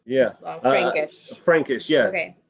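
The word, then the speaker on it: Blaufränkisch: It's Yeah, Blanc Frankish. Frankish. Yeah, Okay. it's so it's a grape from Austria, Okay.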